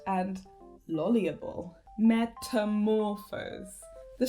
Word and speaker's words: lolibrary: metamorphose and coordinate and lolliable. Metamorphose. The stress is on the 3rd syllable. Coordinate. The stress is on the 2nd syllable. Lolliable. The stress is on the 3rd syllable.